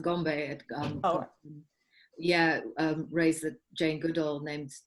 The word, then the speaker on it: Gombe: And I don't know who, I didn't catch who raised the, it's pronounced Gombe.